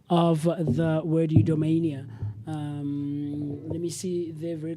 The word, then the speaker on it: eudaimonia: So let's quickly find the correct pronunciation of the word eudaimonia. Let me see there very quickly. Eudaimonia.